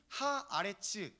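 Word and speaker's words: הָאָרֶץ: 그리고 영어 단어로 랜드, 땅을요, 히브리어 단어로는 아레츠라고 발음을 합니다. 이미 우리가 보고 있는 이 12장 1절 본문에 그 땅이라고 하는 표현이 하 아레츠 더 랜드 이렇게 표시되어 있거든요.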